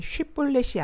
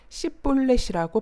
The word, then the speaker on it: 쉬볼렛: 입다는 에브라임 사람들이 SH 발음, 쉬라는 발음을 못하는 것을 알았기에 쉬볼렛이 아닌 S 발음, 시볼렛이라고 발음하는 자들은 모두 죽입니다.